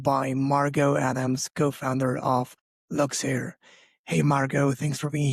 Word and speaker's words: Luxeire: I'm to your host and today I'm super excited to be joined by Margot Adams, co-founder of Luxair.